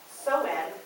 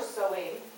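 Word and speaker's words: Samhain: now from just the tradition to an all-out some Sovine ritual is born pronounced so in or sewing the meaning is Summer's end according to Halloween from Pagan ritual to party night Rogers 2002.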